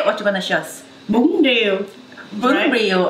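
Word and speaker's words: Bún riêu: Bun Rieu.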